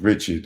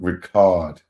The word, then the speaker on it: Ricard: Ricard rebuffed his advances, the more Mr. Combs' retaliatory behavior increased. Yo, bro. Hey, she said it ain't pronounced Richard. It's called Ricard.